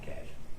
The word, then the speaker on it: cache: Cash.